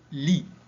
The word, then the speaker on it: lit: C'est le lit. La lettre muette, c'est T.